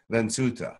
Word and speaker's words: Vensuta: We would pronounce it in the Galactic language as Vensuta.